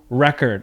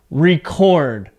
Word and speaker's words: record: So just really quickly, I want you to listen to the pronunciation here, okay? Record. Record today's meeting. Record. Record a video. So my voice goes up. And as a noun, record, okay?